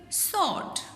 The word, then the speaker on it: sword: Silent W, answer, wrist, sword.